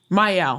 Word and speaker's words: Miel: Miel. Thank you. I was going to ask you, how do I pronounce it?